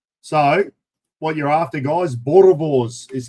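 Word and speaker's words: Boerewors: So, what you're after guys, Borovs is how you pronounce it.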